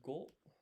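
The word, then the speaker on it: 五: Five is go.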